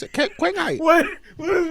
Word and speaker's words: Qinghai: You got to pronounce it Qinghai.